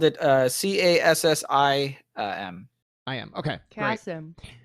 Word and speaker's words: Cassim: And the Kasim. Oh, Kasim. Well, I just spelled it CASSIM. I am. Okay. Great. Cassim. Somebody will be like, "That's not how you spell it," and you know what?